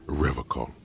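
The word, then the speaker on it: Revachol: He pronounces Revacol with a hard K, unlike other people. I like to pronounce it the hard way, the old way, the Vespertine way.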